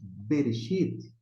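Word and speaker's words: בְּרֵאשִׁית: Mas como nós pronunciamos Bereshit, aqui o Shevá, esses dois pontinhos embaixo do Bet, ele tem um som de E.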